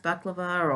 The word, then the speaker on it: baklava: baklava baklava this stuff I'm told it's pronounced buck levar or something up by like one